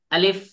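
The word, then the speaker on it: ألف: যাবে না ঠিক আছে যদি কেউ বলে আলিফ হবে না তাহলে কিভাবে বলতে হবে আলিফ আলিফ আলিফ শক্ত আওয়াজে বলতে হবে মুখের খালি জায়গা থেকে উচ্চারণ হবে মুখের খালি জায়গা থেকে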